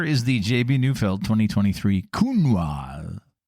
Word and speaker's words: Counoise: Do you pronounce the S at the end? I don't. I don't either. Because yeah. I try and be French. Yeah. I do. But I know you're not supposed to.